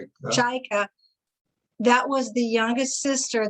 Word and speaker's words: Cajka: Cajka? Cajka.